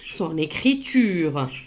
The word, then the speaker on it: son écriture: Amina va améliorer son écriture. Je répète. Amina va améliorer son écriture. Là aussi, on a marqué la liaison son écriture. Son écriture, mais on a lu son écriture.